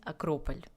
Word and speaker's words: Акрополь: Так что запомните и вы, что в русском языке правильно говорить акрополь. Я просто уже немножко запуталась со всеми языками на греческом. По-моему, он называется акрополис. Нет, акропали. Акрополи. На итальянском акрополист, на русском это будет акрополь.